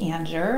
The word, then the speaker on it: Anger: So those that don't know me, I'm Anger, and yes, my last name is spelled like Anger, A-N-G-E-R, and I'm an intuitive guide and master energy healer.